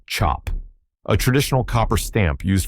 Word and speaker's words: cap: This is a cap, pronounced chop, a traditional copper stamp used for creating batik fabric in Indonesia.